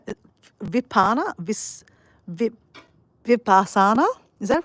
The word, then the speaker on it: Vipassana: Look, it's like Italian nearly.